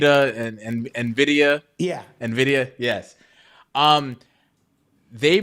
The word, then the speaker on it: Nvidia: say the I don't want to say the name wrong uh nid and Nvidia yeah Nvidia yes um they make uh uh